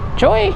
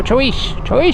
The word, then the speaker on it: Choix: I said, Joy? He's like, no, Choix, Sinaloa.